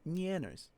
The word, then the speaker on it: Nyanners: It's a little bit funny that you're saying Nyanners instead of Nyanners. it's nya. It's nya. Like kya, or q, like Kyushu. It's Nyanners. Nya.